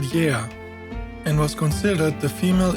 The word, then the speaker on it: Γαία: pronounced “YEA” and not Gaia. (Gaia is a wrong translation) In the Greek language, when the letters “AI” are written together in a word, they are pronounced “E” like the word energy.